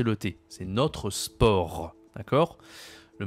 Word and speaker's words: sport: Il y a beaucoup de mots comme ça, on doit pas prononcer la consonne finale.